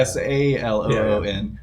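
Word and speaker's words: Selûne: S-A-L-O-O-N. Yeah. Yeah. Just I should clarify. Saloon, the goddess, is spelled S-E-L-U-N-E.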